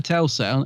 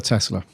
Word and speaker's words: Tesla: I keep saying this wrong n Nica Nicola Telsa how' you say his name Nicola Tesla Tesla night of Terror I'm just going to